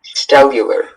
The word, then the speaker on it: stellular: Just stellular. Stellular. Or this can also be pronounced stellula.